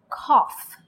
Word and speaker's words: cough: so let's go to the first one it's pronounced cough the second one is pronounced doe the third